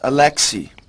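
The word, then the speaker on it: Alexi: Well, it's pronounced Alexei, but it is spelled A-L-E-X-I.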